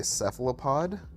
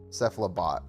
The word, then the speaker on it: Cephalobot: I just want my cephalopod. Cephalobot, sorry. I keep saying it wrong.